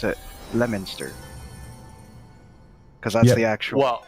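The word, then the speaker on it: Leominster: On the east coast, there's a town called Leo Minister, but we pronounce it Lemonster, cuz that's the actual Well, there's also that town in Kentucky we call Louisville.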